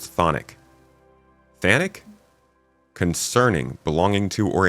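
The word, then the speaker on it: chthonic: Chathonic. Oh, it's just pronounced thonic.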